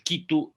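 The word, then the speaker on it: Quitu: él caranqui designó entonces no se pronunciaba así se pronuncia el kitu en términos de la versión quechua que obviamente también ya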